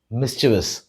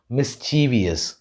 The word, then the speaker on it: mischievous: Mischievous அப்படின்னு சொல்லுவோம். But most people commonly mispronounce this word as mischievous. But the right pronunciation for this word is mischievous.